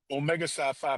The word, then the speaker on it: Omega Psi Phi: How how do you pronounce so I don't say anything disrespectful? Omega Sci-Fi Fraternity Incorporated, sir.